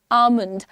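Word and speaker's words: almond: Don't call it आलमंड। डोलमंड etcetera call it आलमंड L silent है।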